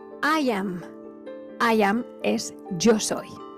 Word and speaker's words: Ian: puede disfrutar en español, Ian, no se dice Ian, claro, en español lo habremos oído como Ian, pero es que no es Ian. Si lo pronunciamos en inglés es Ian. Y Ian es muy parecido a decir I am.